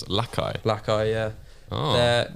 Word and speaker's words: Lakai: Is that how you pronounce it? Lakai? Lakai, yeah. Oh. They're how would you called, pronounce it? I thought it was like Lakey or Lakey.